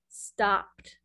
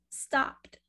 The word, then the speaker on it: stopped: Stopped. You will not pronounce this E. Not in this word. It's not stopped. It is stopped.